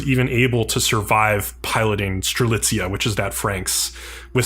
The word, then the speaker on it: Strelitzia: Yeah, I think it's Strelitzia is how they say it.